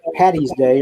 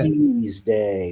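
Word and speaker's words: Paddy's Day: Patty's Day with a D. Okay? Because his name in Gaelic is Patrick. If you call it Patty's Day or St.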